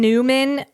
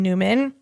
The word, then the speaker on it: Neumann: And there's something called a von Newman probe. Neu mn. And you can pronounce that however you want, but I'm going to pronounce it Newman.